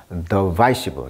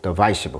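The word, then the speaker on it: divisive: 강세가 이음절에 있어요. 그래서 발음을 뭘로 한다? 더바이시브, 더바이시브.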